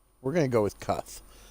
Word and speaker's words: Kutkh: playing through one I'd cuff we're gonna go with cuff say that the K is the second K is silent here it is uh